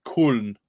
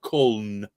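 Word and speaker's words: Köln: Cologne is pronounced Kuln or Kuln.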